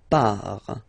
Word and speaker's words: pars: So the first form is je pars. So final S not pronounced.